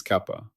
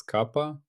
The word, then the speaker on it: kappa: It is kappa.